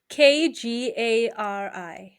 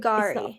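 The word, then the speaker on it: K'gari: Kgari. Can you see it? It's not Kagari.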